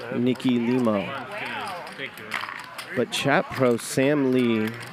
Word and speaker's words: Limo: and he said no it's pronounced limo I just went and checked it is limo so on behalf of